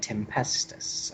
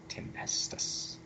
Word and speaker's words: Tempestus: Guard stuff so that's how you say it tempestus okay tempestus I've always had trouble with that with the